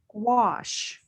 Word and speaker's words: gouache: But there's another kind of paint called gouache, and it's spelled Gouach. So it looks like gouch.